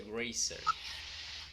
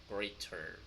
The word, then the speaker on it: greater: Sí, dijiste gracer. Sí, lo pronuncié mal. Lo voy a intentar otra vez. With sound. Greater.